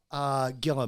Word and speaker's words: Gila: actually pronounced Gila monster.